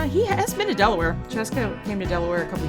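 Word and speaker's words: Scieszka: that wonders, it's John Cheska. It's pronounced like Fresca, he tells me. Or well, he tells the internet, not me personally or anything. Although he has been to Delaware. Cheska came to Delaware a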